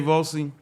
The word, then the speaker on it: Volcy: well actually folks my name is Andre J vossey I'm gonna spell it for you guys because a lot of